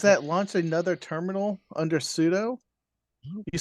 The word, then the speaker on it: sudo: Linux in Red Hat class pseudo is actually pronounced sudo it's super user do so it's telling the